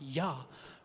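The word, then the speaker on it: יה: And Yud Hey, the two letters that are pronounced Yah, represents the upper transcendent,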